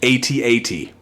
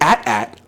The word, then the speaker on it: AT-AT: It is, always has been, and forever will be AT-AT. If you pronounce it AT-AT, I assume you don't know what acronyms are.